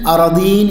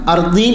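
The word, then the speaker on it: أرضين: ഇവിടെ ഇൽമു പഠിക്കുന്നവർക്ക് ശ്രദ്ധിക്കാൻ വേണ്ടിയിട്ട് പറയാണ്, തുബിഖഹു മിൻ സബ്ഇ അറദീൻ എന്നാണ് അതിൻ്റെ പ്രബലമായ ഉച്ചാരണം. അർദീൻ എന്നും വായിക്കപ്പെടാം.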